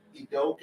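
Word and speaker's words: Udoka: I don't feel that Idoke, is that how you pronounce the last name?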